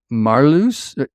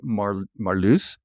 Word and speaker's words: Marloes: Our guest is Marloes. Am I pronouncing that right? Close enough, Marloes.